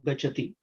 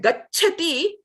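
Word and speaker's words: गच्छति: But gacchati, you can't run there. You have to wait, pronounce the ch, and then go to the mahaprana cha. So it is not gachati, but it is gacchati.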